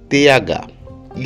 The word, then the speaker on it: the: Na palavra the, tem o TH. E sempre que tiver o TH, você vai colocar a língua entre os dentes e pronunciar com o som de Z ou S. Neste caso, é com Z, ficando the, the.